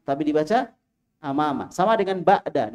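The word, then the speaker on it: بعد: Sama dengan ba'da, enggak boleh ba'du duhri, ya, keliru. Bacanya ba'da duhri, ba'da duhur.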